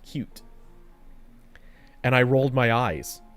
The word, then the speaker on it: Qt: Which, notably, Qt is technically pronounced cute.